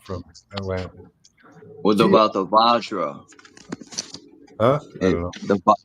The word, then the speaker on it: Vajra: Vajra.